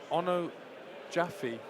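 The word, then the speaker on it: Onojaife: for the second half Jordan's surname is pronounced Ono Jaffe there you go well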